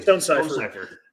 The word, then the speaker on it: Stone Cipher: I might say it wrong, but Stone Cipher, Stone Chipper. No, you said it right. Totally. Stone Cipher.